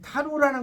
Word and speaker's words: tarot: 이 타로라는 것은 원래 TAROT예요. 그럼 타로가 TAROT. 근데 TARO가 아니에요. 타로. 이 T가 묵음이에요. T가.